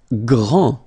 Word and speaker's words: grand: Grand. final D not pronounced, okay? GR, gr, gr, gr, and then the nasal en, grand, okay?